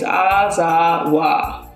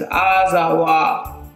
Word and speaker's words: Azawakh: The singular pronunciation is Azawakh, and the plural pronunciation is Azawakh, and the K is silent.